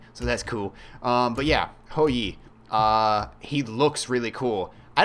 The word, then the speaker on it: Hou Yi: But yeah, not only is it live, but we have a new god, whose name, as he pronounces it is Ho Yi.